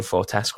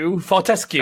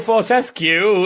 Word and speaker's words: Fortesque: And so what happened there is I learned that for 20 years I've been saying what we've all been saying, Daniel Fortesque wrong. What? Yeah. Because the woman, Fortesque, please. The woman on one of the trailers was like, Daniel Fortesque, or Fortescue, that was it.